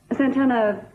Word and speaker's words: Santana: for china santana really santana that's right you must roll your r's when you say it all the time